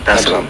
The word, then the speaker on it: Dar es Salaam: Did I pronounce that right? Yeah, Dar es Salaam.